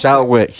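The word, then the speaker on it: Schalkwyk: It's Shadley Van Shalwick. Shalwick, yeah.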